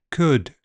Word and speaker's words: could: Elf selves health Welsh help bulb bolt sold milk belch bulge kiln film and L is silent in some words calm palm Arm salmon half chalk talk walk folk yoke would could kernel.